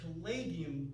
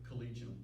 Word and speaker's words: Collegium: In Europe, Collegia Musica, which is plural of Collegium Musicum, and Collegium seems to be the proper way to pronounce it, but everyone likes to say Collegium.